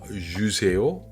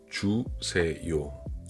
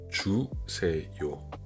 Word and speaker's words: 주세요: Et surtout avec la prononciation, les francophones vont dire 주세요, mais c'est plutôt 주세요. 주세요. Un peu comme 저기요.